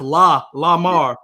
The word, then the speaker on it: Lamar: a spell l-e-m-a-r l-a like how it's pronounced la la mar yeah yours is like